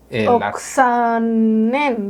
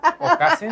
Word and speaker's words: Oksanen: Oksanen, dice. Oksanen. ¿Y yo qué dije? ¿Okasen? ¿O qué dije? ¿Cómo lo pronuncié? Pues totalmente distinto.